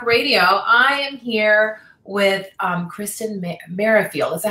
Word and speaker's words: Kristen Merrifield: I am here with Kristen Merrifield.